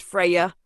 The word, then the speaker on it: Freya: Freya, pronounced Freya, is one of the most radiant and formidable goddesses of Norse mythology.